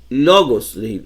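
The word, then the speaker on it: λόγος: En este caso, todas las palabras llevan el acento en la penúltima sílaba. Logos, logos.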